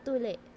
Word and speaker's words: tuli: So circumcision in Filipino is TULI or TULE. They have different spellings for it, but it's pronounced pretty much the same, TULE.